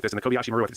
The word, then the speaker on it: Kobayashi Maru: If you're watching this in training and you find yourself in an intractable situation like this, in the Kobayashi Maru, that's how you say it.